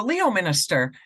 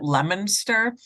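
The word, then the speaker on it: Leominster: I go, Leo Minister. And I could literally hear the whole freaking office bust out laughing at me. Apparently they pronounce it Lemonster.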